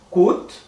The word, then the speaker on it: coûte: Ça coûte, com o de urubu aqui, né? Então é coûte.